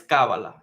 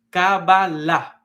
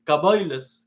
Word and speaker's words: Kabbalah: en la primera A, pero realmente la pronunciación correcta no es Kabbalah, es Kabbalah, con el acento al final. Y si fuera yo un judío ashkenazi, ellos dicen diferente. Ellos dicen Kabbalah, dicen ellos, hablan diferente.